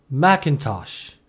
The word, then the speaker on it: Macintosh: 애플이 만든 유명한 컴퓨터 매킨토시가 대표적인 경우인데요. 외래어로는 매킨토시라고 하는 게 일반적이고 줄여서 Mac이라고도 하는데 실제 영어 발음은 Macintosh, Mac라고 합니다.